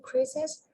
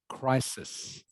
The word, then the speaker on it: crisis: To address the climate crisis, we all need to reduce the amount of energy we consume.